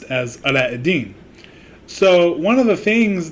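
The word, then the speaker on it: علاء الدين: pronunciation it's aladdin in arabic my name is pronounced as allah eddin so one of the things that i always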